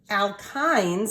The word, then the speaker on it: alkyne: move on to the alkynes and that's how you say it alkyne all right and and